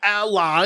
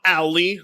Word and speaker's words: Ally: As you know, Microsoft revealed the Xbox ally. Yes, ally, not Ali.